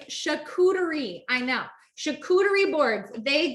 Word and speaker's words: charcuterie: what does that say how do you pronounce pronounce that it's chicootery i know chicouteri boards